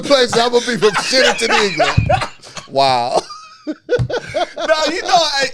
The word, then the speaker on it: Shitterton: It's Shitterton. No, it's named Shitterton, England. And it keep getting the sign stole. Everybody steals the sign. Is that it's not Shatterton? It's Shitterton. He may not be pronouncing it the No, way it's...